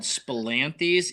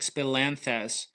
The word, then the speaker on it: spilanthes: a obscure herb it's spelled s p i l like spill and then anthy a n t hes SP like spilanthes but it's a super